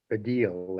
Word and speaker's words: Baddiel: Last night, he had David Baddiel, that's how his name's pronounced, a British Jewish comedian on.